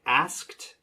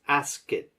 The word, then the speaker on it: asked: Be careful with words like asked and rehearsed. You're making this 2 syllables. Ask it, ask it. It should be 1. Asked. So practice connecting the K and T sounds together. So it sounds more like asked.